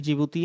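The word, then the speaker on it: Djibouti: यहाँ पर जिबूती एक देश है, उसकी राजधानी भी जिबूती है। इंग्लिश में देखेंगे तो डी से शुरू होगा, वो डी साइलेंट रहता है।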